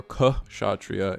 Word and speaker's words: Kshatriya: The word Kshatriya can be pronounced as Kshatriya in British English, or Kshatriya in US English.